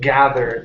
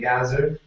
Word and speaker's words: gathered: next one here is the word gathered now I know uh those who are from Egypt have trouble with the th sound okay so we want to move away from the Z saying gazer okay and and place your tongue between your teeth this is G gathered gathered yeah there you go